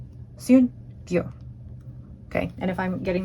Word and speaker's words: Syun-Gyo: So after doing some quick research on Google Translate, I believe it is pronounced Syun-Gyo. Syun-Gyo.